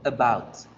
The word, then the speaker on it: about: Entonces yo no digo about, yo no abro la boca grande para decir about, digo about, about, about. Ahí, fíjense en que la schwa está tomando posición como una vocal A.